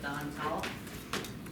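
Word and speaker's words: Dantal: Hi everyone, my name is Representative Don Tall. My last name is spelled D-A-N-T-A-L.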